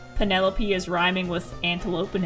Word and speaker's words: Penelope: I can't wait for someone to pronounce Penelope is rhyming with antelope and envelope.